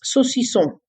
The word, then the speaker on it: saucisson: One of my daughter's favorite words is saucisson.